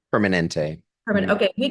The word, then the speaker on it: Permanente: How do you pronounce it? Permanente? Permanente.